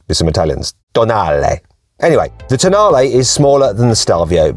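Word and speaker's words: Tonale: new alfa romeo toenail yes i know it looks like it's pronounced toenail but it isn't okay i checked with some italians anyway the tanale is smaller than the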